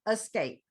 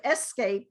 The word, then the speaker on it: escape: jungle right and this sometimes is uh escape instead of escape we would say escape escape escape escape into